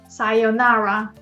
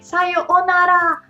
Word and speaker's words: さようなら: But when there is O, U sound next to each other, you'd pronounce like O. So you don't pronounce it like Sayonara, but Sayonara.